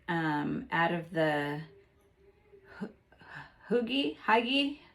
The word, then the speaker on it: hygge: terrible no okay let's scratch that red heart hygge okay that's how you pronounce it hygge red heart hygge yarn which is this furry